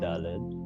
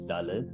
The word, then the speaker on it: Daled: And Daled is also lost in many communities, in most communities, but there's a hard Daled, which is Daled, which is what we use, and there's a soft Daled.